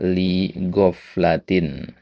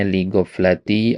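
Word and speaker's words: لِغَفْلَةٍ: baris keempat ada kata lihofl latin. Nah, tadi antum bacanya ligoflati syahwati au syubhati. Nah, jadi tanwinnya yang hilang ya. Ya, sudah benar harakatnya tanwinnya yang kurang.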